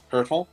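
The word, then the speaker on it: Hertl: we've got Thomas helel hurtle yeah a German hurtle is hurtle I should have know that yeah German pronunciations for football but uh he had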